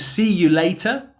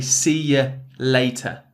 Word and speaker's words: see ya later: Instead of see you later, you would say see ya later. Yeah, see ya later. It's that schwa sound, really common vowel sound at the end of the word.